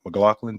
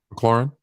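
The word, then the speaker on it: McLaurin: some good chemistry with I gotta make sure I say his name like McLaughlin did I say his name McLaren McLaren I'm sorry he's got some good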